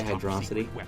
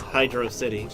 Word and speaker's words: Hydrocity: Is it HydroCity or is it HydroSSity? HydroSSity. And while HydroSSity sounds awesome because it's a fast water level, great pun there. Unfortunately, it is HydroCity.